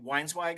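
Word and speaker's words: Weinzweig: So you're visiting Ari Weinswag, am I pronouncing that correctly?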